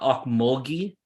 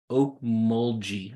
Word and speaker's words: Okmulgee: Hold on, it's not Okmulgee. It's Okmulgee, I think is correct. Is how you say the town.